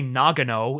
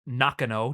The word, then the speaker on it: Nakano: half the names uh they say Nagano instead of nakano despite the fact that the sign literally says nakano on screen yeah uh so in